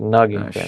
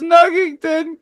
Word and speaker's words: Knuggington: It's Oh Nuggington, shit. right? The Bro, K is silent. yeah, you fucking destroy these names. He really does. He really does. Buster Buzz Nuggington, Yeah.